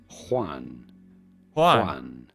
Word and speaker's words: Juan: go about pronouncing it in spanish it is said as juan juan but it'd be fine if you cannot pronounce the spanish j to say it as